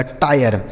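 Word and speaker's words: tire: टी आई आर ई टी से हो गया दोस्तों ट। इस आई का उच्चारण आई हो गया। आर ई से र लिखा गया टायर।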